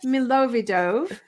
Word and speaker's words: Milovidov: and today we are back with dr milovidov yes it's great pronunciation i'm impressed you know why i wrote